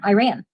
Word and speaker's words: Iran: I ran so far away. Was that not the song? No, I've actually talked with Iranians and they pronounce it Iran.